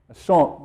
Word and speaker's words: Ashonk: Ashonk, that's how you say it.